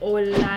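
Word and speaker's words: au lait: Strawberry, how do you pronounce that? It's like French, like Au-Lait.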